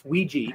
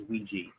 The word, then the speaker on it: Ouija: not Ouija Ouija it it's a it's Ouiji that's the the actual pronunciation for it okay there there